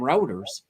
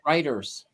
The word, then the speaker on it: Reuters: And I always called them routers. Yeah. They're actually pronounced Reuters.